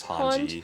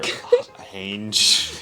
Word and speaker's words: Hanji: It's Hanji. Hanji, yeah. I really like her too. On Hulu, it's spelled Hange, like Hanga or Hange. Hange, yeah, that's why I just pronounced it like that, because that's how I But in the show they say it.